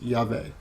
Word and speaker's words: Yahweh: yo-dee-hey valve a which is Yavin the basic pronunciation of the name is Yahweh although the Hebrew letter valve can also be